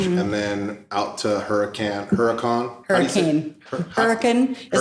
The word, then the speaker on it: Hurricane: Hurricane is how I say it, but it's hurricane is how it's spelled.